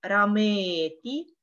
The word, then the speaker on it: рамети: Например, слово «рамети» Рамети. Рамети. Ти. Ти. Рамети. Как вы могли заметить, Уша, она специально делает «т» более твердую.